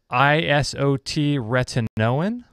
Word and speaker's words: isotretinoin: Maxim in the chat room says, is there a difference between vitamin A detox and ISOT retinoin? How do you pronounce that?